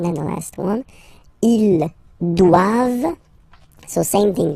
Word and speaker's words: doivent: And then the last one, ils doivent. So same thing, classic ending for the plural form, E-N-T here. Okay, but then you don't pronounce it. Doivent, doivent, elles doivent.